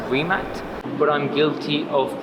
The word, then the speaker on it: Rimac: so the brand is not actually um pronounced bremack it's pronounced rimac but i'm guilty of pronouncing it wrong constantly